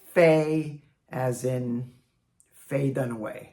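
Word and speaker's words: 妃: Today our first character is first tone fay.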